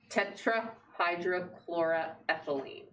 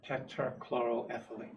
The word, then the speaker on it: tetrachloroethylene: Well, it's under an environmental covenant because there are tetrahydrochloroethylene. Tetrachloroethylene.